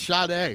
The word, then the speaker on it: Sade: If you cannot pronounce her name, it doesn't count. It doesn't matter. We got it right. It's Sade.